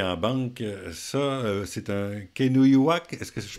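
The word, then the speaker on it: Kenojuak: Ça, c'est un Kenuyuak, est-ce que je prononce bien?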